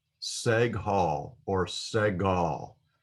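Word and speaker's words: segol: shape and it's called seg hall seg hall or segal it is a uh pronounced as an e in english in the word better better so it's an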